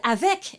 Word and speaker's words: avec: Now the word avec and bec, that C is pronounced.